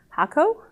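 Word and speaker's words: Hakko: we have the so we fought over trying to determine how to say this word I think we decided it was called hako hacko hacko theany call it hacko the people from the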